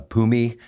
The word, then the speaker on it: Phumi: Got a special guest today, uh, Pumi Nakuda. And, uh, a little line I came up with is is, uh, when you're on the mic, the H is silent, but you're not, you know.